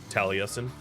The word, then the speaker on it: Taliesin: how to do it it's a welsh druid name taliesin that's why like ifa